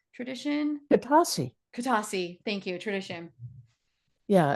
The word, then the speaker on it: Katasi: want to mispronounce it kadasi tradition katasi katasi thank you tradition yeah it has an unusual accent to it everybody always pronounces it wrong but it is simple it's just katasi katasi yeah katasi means balance